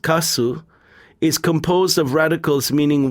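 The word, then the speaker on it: 粕: In Japanese, the character for leftovers, pronounced kasu, is composed of radicals meaning white and rice.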